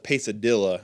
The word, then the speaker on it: Pesadilla: of Dylan angland pesadilla pesadilla is actually how it's actually pronounced uh so we're going